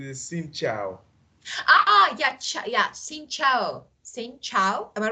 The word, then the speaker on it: Xin chào: So Xin Chao. Am I right? It's quite good. Good. So I have chance. Xin Chao.